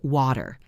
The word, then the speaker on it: water: For example, the word water. In standard pronunciation, you might hear way teer with a clear t sound. But in everyday speech, many people say wearer. The t is replaced by a tiny pause.